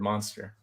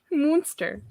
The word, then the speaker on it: Munster: I think it's Munster. It's not monster. It's Munster.